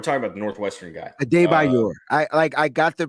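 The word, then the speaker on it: Adebawore: Adebayor. I got the pronunciation. Adebayor. Adebayor. Adebayor. Okay. Yeah. The Y W is like a Y sound.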